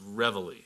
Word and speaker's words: Reveille: I've been mispronouncing your name. Your name is pronounced Reveille.